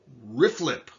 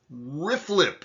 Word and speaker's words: RFLP: is called riflip analysis rflp pronounced riflip rifflip say it with me okay